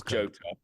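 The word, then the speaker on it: Jota: It's Jotto.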